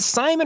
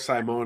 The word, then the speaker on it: Saimone: and am i pronouncing is it simon or simone do we know how to pronounce his name correctly from nolan i i go with the ladder i go with simone because it was that eye in the middle always makes me hesitate but you know we'll find